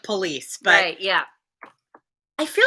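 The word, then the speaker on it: pelisse: wrong police p-e-l-i-s-s-e oh police that's no i think that i think i just sounds like police but yeah i feel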